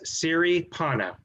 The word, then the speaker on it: Siripana: i'm pronouncing that correctly yes siri panna theory panna just just like it looks so mr siripana welcome